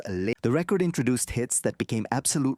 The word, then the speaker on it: Lynyrd Skynyrd: Soon after the band dropped their debut album, Pronounced Leh-Nerd Skin-Nerd, produced hits that became absolute rock classics like